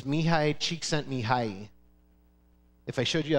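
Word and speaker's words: Mihaly Csikszentmihalyi: California and his name is really hard to pronounce but I'm going to try it it's mihai cheek sent me high if I showed you how to spell the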